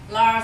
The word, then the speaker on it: Lars: pronounce your name right Lars Lars L LS in Swedish it's lar yeah can I say Larry